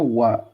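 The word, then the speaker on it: は: So Deska acknowledges that you have understood what was just said. Is that so? Or I see. The the particular wa is pronounced wa, not ha.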